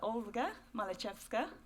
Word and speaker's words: Olga Malchevska: Next to Michael is Olga Malchevska. Pronounced it correctly.